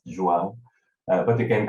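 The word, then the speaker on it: João: yourself yeah thank you my name is joao it's pronounced joan but you can call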